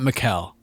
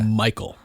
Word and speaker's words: Mikel: done some digging yeah not mikelle yeah michael it's spelled m-i-k-e-l yes michael okay michael all right i